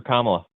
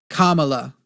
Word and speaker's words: Kamala: Kamala like the like the little symbol comma.